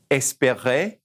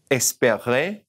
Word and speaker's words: espérer: First of all is aimer, aimer, and espérer, espérer, parler, parler, to speak, remember to look for,